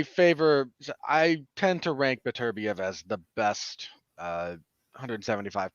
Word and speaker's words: Beterbiev: better be of his better beef excuse me i i i started now against now you're doing it i started pronouncing it wrong heard it pronounced correctly and i'm trying to correct myself now as i go